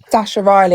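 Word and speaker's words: Sacha Riley: Um, Sasha Riley, it's spelled S A C S H A Riley.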